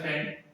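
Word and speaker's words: scent: ठीक है, एक रहता है सेंट, जो बात है सेंट, इसमें सी साइलेंट रहता है।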